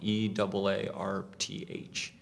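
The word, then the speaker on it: Eaarth: Earth but spelled wrong e a r t h uh you have to kind of Channel your inner Schwarzenegger to pronounce it ch Earth you know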